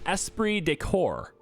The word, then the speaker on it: esprit de corps: And then Esprit de Corps is what I've been told that's what this is. I've been told this is how you say it.